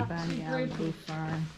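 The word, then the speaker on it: Banyalbufar: How do you pronounce that But one? you have to edit this out. Definitely. Banyal Bufar.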